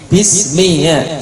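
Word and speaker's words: بسم الله: Tapi kalau sebelumnya kasrah maka dibaca walillah. Bismillah bukan bismillah bukan. Karena apa? Sebelumnya kasrah i. Bismillah i.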